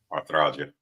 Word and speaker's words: arthralgia: She was hospitalized and diagnosed with Arthralgia.